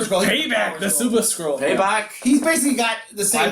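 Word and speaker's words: Paibok: before we started recording nobody can figure out how to say his name but it's basically spelled p AI b k p yeah somebody figured that out payback yeah he's the power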